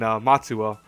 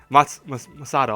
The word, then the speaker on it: Masato: You got Natsuki, Tokia, Cecil, Ren, Otoya, and Seo, and Matsuo. Masato, I'm sorry, Matsuo, I said. I'm terrible with names. Masado. See, I almost said it wrong again.